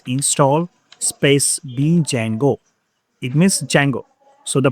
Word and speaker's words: Django: It means Django. So the pronunciation of this is Django.